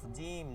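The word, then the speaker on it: جيم: কু কুকা কুকি কুকু জিম। জিমটা হবে শক্ত। ঠিক আছে? জিম হবে শক্ত। কোন আওয়াজ বের হবে না। মানে আওয়াজ বলতে ঝরঝর আওয়াজ হবে না। জির জির আওয়াজ হবে না। একদম শক্ত উচ্চারণ।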